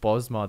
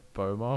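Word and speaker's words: Bosmer: And on that same list, I can remember, I think Bosma, the S is silent. It was like Boma or something.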